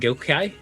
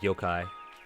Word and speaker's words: Yokai: four races human uh and gokai I think I'd mispronounced that I think they're just supposed to be like Yokai oh you're right yeah